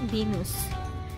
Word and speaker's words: Vilnius: They pronounce the Vilnius as Venus.